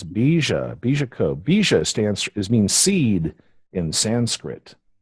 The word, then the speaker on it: Bija Co: It's Bija Co.